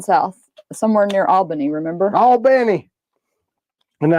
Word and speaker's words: Albany: All Benny.